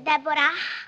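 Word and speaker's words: Deborah: buon Chi sei tu Debora con l'ac finale che però non si pronuncia mica si dice Debora Eh certo Brava infatti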